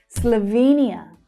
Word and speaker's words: Slovenia: Slovenia. Slovenia. It has the same stress pattern. Slovenia. It's that long E vowel sound.